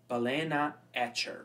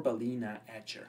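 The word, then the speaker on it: balenaEtcher: of the software is balen Atcher or balina Atcher however you like to pronounce it and we can download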